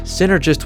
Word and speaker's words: Synnergist: and the title synergist synergist was meant to imply the result of many aspects coming together but the reason it was given an extra n was that you'd instinctively emphasize the syllable sin he says this is